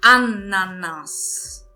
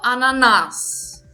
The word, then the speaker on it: Ananas: Então, aqui nesse exemplo, eu digo ananas. Ananas. Eu não digo ananás, tá? Então, eu não entono a última sílaba, mas sim a primeira.